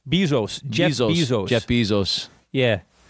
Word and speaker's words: Bezos: Bezos.